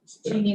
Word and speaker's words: Jeannie: It's not Jenny. Oh, It's not a big deal. Jeannie, not Jenny.